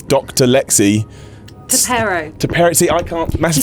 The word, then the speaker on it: T'Perro: Now, the big reason you're here today is because you're playing, I'm going to get this name wrong, but it's Dr. Lexi. Tapero.